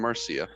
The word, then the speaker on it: Marcia: Madam Marcia and um I definitely clarified the pronunciation of her name because it looks like Madame Mara but Madame Marcia um had predicted while